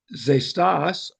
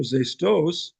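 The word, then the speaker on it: ξέστης: Those pots are pronounced zestas or zestos with a soft X sound, and they come from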